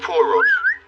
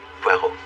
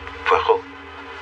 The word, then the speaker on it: Poirot: Poor Rods. No, no, no. Pero. It is pronounced Pero.